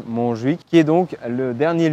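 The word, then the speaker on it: Montjuïc: el parque des monj donc attention la prononciation un peu catalan monj qui est donc le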